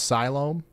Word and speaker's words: Siloam: It's pronounced Siloam?